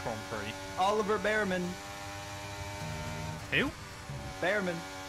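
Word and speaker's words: Bearman: Behrman. You know it's pronounced Beerman, don't you?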